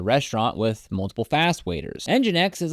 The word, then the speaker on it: nginx: faster and handle more visitors at once ngx pronounced engin X and this is a special type of web